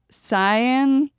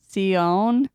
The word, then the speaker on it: Sion: say that cion well wouldn't it be like Sian like lion no no because it's uh is this not English yeah seon yeah okay I mean we're we're